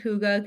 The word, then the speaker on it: hygge: Okay, so let's talk about that word that I can't pronounce. Hygge.